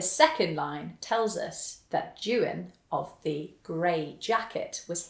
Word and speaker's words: Juan: juan a jagged kia you may not be familiar with the name juan it's the manx translation of john and it's spelt j-u-a-n it actually looks a little bit like the spanish name juan but it's not as will i do